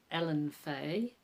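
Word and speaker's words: Elinefae: One I stumbled across was Alan Fay, which are cat people, and I think that's how you pronounce it.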